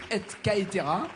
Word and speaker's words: et caetera: Si on prononce À la latine, c'est et caetera.